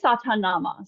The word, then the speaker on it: Sa Ta Na Ma: self I am and we say one syllable per finger touch so it's sa ta na ma sa na ma and